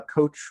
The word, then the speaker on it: COACHE: coach and you can google coach with that e at the end that's silent e um you can google